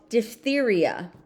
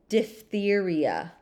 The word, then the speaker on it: diphtheria: It was called diphtheria. So you see in the parentheses, this is actually saying how the word is pronounced. So in the English language, PH makes an F sound.